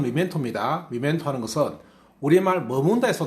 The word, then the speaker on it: memento: 자, 여기서 미멘토라는 말은요, 발음 미멘토입니다.